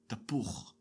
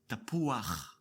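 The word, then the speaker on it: תפוח: Otherwise, it is pronounced tapuch. Tapuch. With the patach gnuva correction, it is pronounced tapuach. Tapuach. Notice the added a before the last chet.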